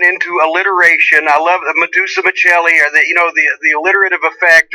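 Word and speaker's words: Madusa: And so I thought, okay, Medusa, M-A-D-U-S-A, not M-E-D, but M-A-D-U-S-A. Okay, that's it. They can chant it. It's 3 syllables.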